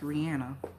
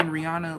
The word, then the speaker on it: Rihanna: She said it's pronounced Rihanna. I miss I've been saying Rihanna like for so long.